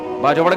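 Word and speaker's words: باجوڑ: बाजड़ का जिसको बाजवड़ कहते हैं। असल प्रोनाउंसिएशन ये है बाजड़।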